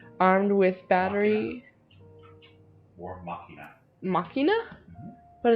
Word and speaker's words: machina: Machina? Mm-hmm. But it's like machina, like machine. M-A... yeah, but it's a Latin word and it's pronounced machina.